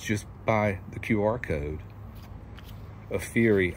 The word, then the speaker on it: AFERIY: by the QR code aury I've also heard it pronounced apery but I prefer a fury I don't think they